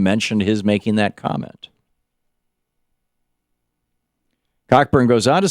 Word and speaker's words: Cockburn: Am I saying Cockburn? I think it's Coburn. No, it's pronounced Coburn, but it's spelled Cockburn.